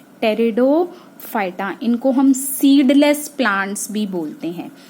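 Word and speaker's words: Pteridophyta: kingdom की that is टेरिडोफाइटा पीठ silent टेरिडोफाइटा इनको हम सीधे प्लांट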